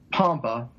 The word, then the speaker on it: Pompa: p m PA so it's Dr Pompa and thenc so there you go people always Poma they don't to spell it it's really spelled the way it sounds so yeah and I